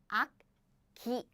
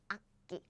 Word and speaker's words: 악기: So we don't pronounce it like 악기. Oh, I naturally pronounce 악기. 악기, 악기, 악기.